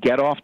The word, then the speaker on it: Getoff: the website is get-off calm and as that's my name they don't automatically assume that get off is spelled GE t get o FF off they assume if it's